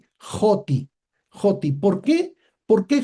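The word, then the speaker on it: ὅτι: Y entonces el espíritu rudo se pronuncia como una J. Por eso la pronunciación sí no sería oti, sino sería joti.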